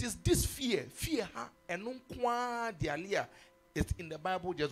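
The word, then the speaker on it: deilia: The Greek word for this word fear, spell it D-E-I-L-I-A. D-E-I-L-I-A. Dialia. Dialia.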